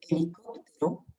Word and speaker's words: helicóptero: La H de helicóptero, bon, es muda, on ne la prononce pas.